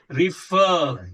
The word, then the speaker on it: refer: ये साउंड है अ की, रिफर, रिफ, रिफर, फर, रिफर, रिफर, रा नहीं प्रोनाउंस हो रहा है, this R is not being pronounced here. Refer, क्या है, refer, prefer, prefer, ठीक है।